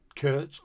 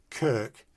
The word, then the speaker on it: Kirk: got Kirk Douglas so when I introduce myself to people you say my name's Kirk they'd say Curts of the Messiah so I'd go Kirk as in Douglas so there's the doggy